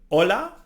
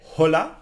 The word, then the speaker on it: hola: silent no for example hola no we don't say hola we say Ola so always the H is silent the I it's like